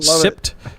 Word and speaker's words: SIPT: iot class it is the sipt kit so the sans iot pwnage toolkit mm-hmm pronounced sipped sipped sipped uh so you